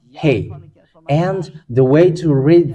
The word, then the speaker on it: ה: When you see that, it is called Yod, and this one is, and it is pronounced as E. And this one is Hey.